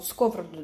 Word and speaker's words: сковороду: Вот вроде бы сковороду, да, говорить правильно вот так ударение. Но так это непривычно. Это вообще просто всегда все равно хочется говорить сковорода.